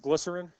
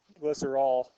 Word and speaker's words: glycerol: I think that's also might be pronounced glycerin. Glycerol. Glycerin, I think, is another name of it. Glycerol. Glycerol and glycerin are probably in the same family, but it's glycerol.